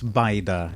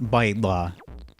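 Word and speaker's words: bajda: It's baida, just like the Arabic one, except Arabic has that l sound, and Maltese doesn't. Maltese lost it. So it's baida, not baidla.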